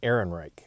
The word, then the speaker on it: Ehrenreich: Alden Ehrenreich.